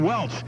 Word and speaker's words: Welch: The cool down experts from Welch, pronounced like the grape juice, powering the Gulf of Mexico for years, and now cooling, too.